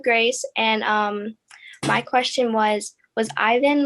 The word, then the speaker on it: Ivan: worry about mispronouncing things, because whenever I was reading, I always pronounced it Yvonne instead of Ivan.